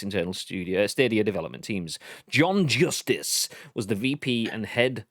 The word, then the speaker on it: John Justice: John Justice was the VP and head of product for Stadia.